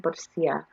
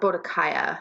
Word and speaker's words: Boadicea: So it's like, but also I think she was modeled after Queen Boadicea of the um, of like the pre-London English people, or Boadicea, however you want to pronounce her name, because